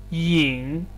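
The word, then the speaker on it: 赢: of this word so it is yin ying as a verb having a second tone yin ying to win and the second one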